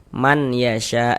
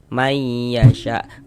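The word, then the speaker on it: مَنْ يَشَاءُ: Cara membacanya bunyi nun sukunnya dimasukkan ke huruf ya. Sehingga ini kita baca may. May jangan dibaca man. Man yasya jangan. Tapi dibaca may. May yasya.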